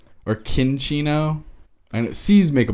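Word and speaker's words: Cinccino: pronounced this way but I like to go extra Italian with the pronunciation of this name and I call this chinchino ah it could be cinchino or kin Chino and it sees make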